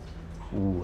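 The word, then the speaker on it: 無: Wu wei, no intention, no motivation. So in the Zen tradition, wu, where in Japanese they pronounce it mu, also means nothingness.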